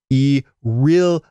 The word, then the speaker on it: Aurelia: Also, to tease you guys on the mispronunciation of a made-up word, it's Aurelia. You can clearly hear it in my episode intro.